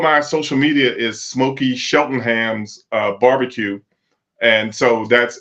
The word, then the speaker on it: Cheltenham: everything is um Smoky Shelton Ham's barbecue and that's sheltonham with a c before we over before we uh we're done everybody's gonna know that sheltonham is c l t